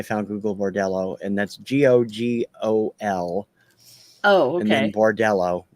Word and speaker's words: Gogol: So yeah, through Risk Cutters, I found Google Bordello, and that's Gogol, Oh, and then okay. Bordello. Not spelled like the Google search.